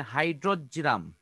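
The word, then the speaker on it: Hydrargyrum: Mercury পারদ যেটা, হ্যাঁ এটার উচ্চারণটা একটু কঠিন, হাইড্রোজিরাম।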